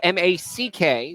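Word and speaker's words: Mack: For the first baseman, first name is spelled M-A-C-K, so no, it is not Mark, it is Mac.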